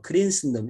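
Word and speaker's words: Christendom: 신기하게도 2000년 교회사가 하나님의 왕국에 우리가 신경을 쓴다고 하면서 실제로는 크리스텐덤, 네, 크리스텐덤, 영어 발음은 뭐 크린슨덤 이렇게 얘기를 하는데, 크리스텐덤, 기독교 왕국을 세우려고 어떤 국교를 통해서 기독교 왕국을 세우고 이게 하나님의 왕국이다라는 짝퉁을 만드는 거예요.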